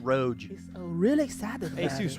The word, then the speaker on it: ROG: It's pronounced Roge. So real excited about Asus it. Roge.